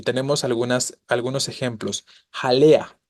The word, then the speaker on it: jalea: tenemos algunas algunos ejemplos jalea la palabra jalea tiene tres sílabas Ja lea no Cuál es la tónica la que está subrayada la penúltima es grave terminada en